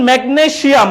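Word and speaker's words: magnesium: Siam and জিয়াম both R correct.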